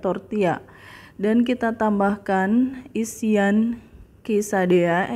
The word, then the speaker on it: tortilla: Ejaannya adalah tortilla, tetapi pengucapannya adalah tor-tee-yah.